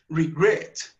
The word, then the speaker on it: regret: la última consonante Entonces el acento en regret está en la segunda en la segunda consonante regret entonces por eso duplicamos